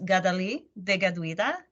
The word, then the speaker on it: Kateri Tekakwitha: The more accurate pronunciation of her name in Mohawk is Kateri Tekakwitha.